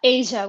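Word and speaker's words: A'ja: chat also brings up is it a Wilson is that how you pronounce it please correct me I'm sorry it's Asia Wilson Asia okay thank you and that's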